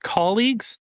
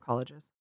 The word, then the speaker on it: colleagues: Colleagues, not colleges.